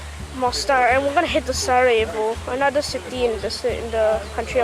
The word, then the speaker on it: Sarajevo: And apparently in Russian letters it's Kapayibo or something. They still pronounce Sarajevo. Really? C is S?